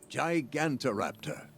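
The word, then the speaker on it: Gigantoraptor: look at that thing let's make sure I pronounced it right gigant Raptor yeah there we go good hold look we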